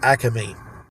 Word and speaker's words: Acme: south jersey most likely you refer to acting markets as acame and i don't know if that's because we just like to add an extra syllable in there i don't